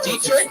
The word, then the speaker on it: Dietrich: Dietrich, am I saying that right? Yes, you are saying it correctly. Dietrich, you are awesome, man.